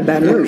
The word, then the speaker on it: Baton Rouge: this is my first time at uh in baton rouge and uh or is that how you say it yeah baton rouge there you go yeah i don't know how